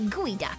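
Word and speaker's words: geoduck: protein I don't know geod duck pronounced gooey duck yep have you seen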